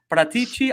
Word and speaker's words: Paratici: I try and pronounce it, but maybe I should just say Reggie. But Paratici. I've been told Paratici, right? It's Paratici.